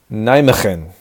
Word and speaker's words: Nijmegen: I think it's pronounced Nijmegen. In Dutch, the G is like a Arabic or a Hebrew ch or cha. I'm always getting that confused, but it's like a ch.